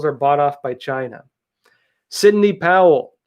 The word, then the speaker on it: Sidney: of you pointing out i always say her name wrong to be honest i always pronounced it cindy sidney thank you all